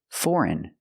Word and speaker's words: foreign: And some other words that follow the rules foreign and campaign. We see the GN at the end and the G is silent.